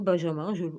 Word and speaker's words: Benjamin: Devant Ephraïm, Benjamin, ou Benjamin, non, Benjamin, ça se prononce comme ça, et Manassé, réveille ta force et viens à notre secours.